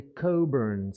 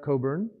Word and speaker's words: Cockburn: petites choses à commencer le nom c'est coburn s'est pas qu'aucun ces noms écosse le ck s'était pas prononcée il ya un porto